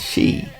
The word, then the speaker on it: ski: It is believed that the word is a slight corruption of the Scandinavian pronunciation of ski, which is she or shoe.